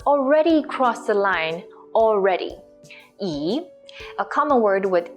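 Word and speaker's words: 已: the left with the longer last stroke is pronounced at e and P looks like this e it means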